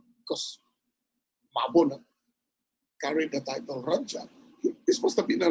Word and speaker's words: raja: you use the word Raja, which we tend to mispronounce as Raha, which is the Spanish pronunciation of the letter J. So that's why we say Raha, but it's actually Raja or Radia.